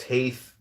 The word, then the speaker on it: Teth: Teth, T-E-T-H, pronounced Taith, transcribed as T, the number 9, meaning serpent, the intelligence of the secret of all spiritual activities.